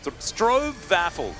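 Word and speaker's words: stroopwafel: you this come on man strob strob vaffle strobe vaffle yeah yeah that was it I forgot that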